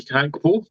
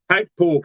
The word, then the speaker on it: Gakpo: And yes, it's a silent G. Apparently, it's Cody Gakpo. I think that's how you pronounce it anyway.